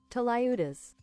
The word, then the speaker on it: tlayudas: How do you pronounce this? Tlayudas.